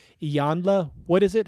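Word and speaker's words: Iyanla Vanzant: Finney, and author and motivational speaker Vanya Vanzet. That's not correct. Ianya? I should have practiced that one. I think it's Iyanla.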